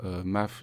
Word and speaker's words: M4F: si vous voulez suivre MAAF donc de m4f ça s'écrit m4f mais ça se prononce MAAF je me suis fait